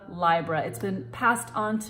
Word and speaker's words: Libra: moon in Libra now I pronounce Libra library through my astrological lineage la Ossa Lonsdale and Mark borax my teachers and so moving